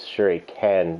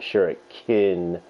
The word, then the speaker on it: shuriken: was a fun game shuriken is spelled wrong it sure a Ken not sure Akin otherwise this would be pronounced so I am going